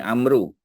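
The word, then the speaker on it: عمرو: binti Amar ya Ha jadi ejaannya Ain mim Raw wau ya macam bunyi Amru tapi kalau dia datang selepas bin atau binti ya kita kena baca Amar saja wau tu tidak berfungsi ya tapi kalau tulis kena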